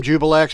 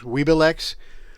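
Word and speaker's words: Juiblex: d demon demon prince i call them jubilex but it's i think it's pronounced weeblex um weeablex i mean but anyway um i've missed pronouncing since i was a kid and i'm too old to change now so this is jubilex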